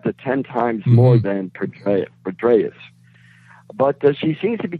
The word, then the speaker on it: Petraeus: Petraeus, yes.